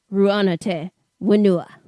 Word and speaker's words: Rū Ana Te Whenua: Ru'ana Te Wenua.